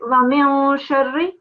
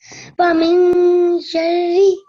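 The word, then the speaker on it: وَمِن شَرِّ: It's again the nasal sound on the noon here. It's ikhfa. You don't pronounce the noon as I already told you. So it's wa min sharri. Wa min sharri.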